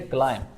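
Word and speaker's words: climb: एल आई एम बी इसमें देख लीजिएगा कि हमने बी को हम क्लाइम नहीं कहेंगे बल्कि हम कहेंगे क्लाइम इसी तरह से हमारे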